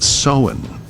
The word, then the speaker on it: Samhain: Now, it is spelled Samhain, but it's pronounced Samhain.